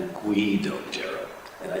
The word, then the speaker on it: Deiro: Before I forget, by the way, it's not Deiro, it's Deiro. If you want to pronounce his name, you got to say Deiro, okay? So many people, when I was a kid too, you hear Deiro, but it's actually Deiro.